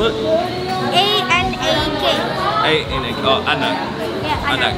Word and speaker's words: anak: How do you spell it? A-N-A-K.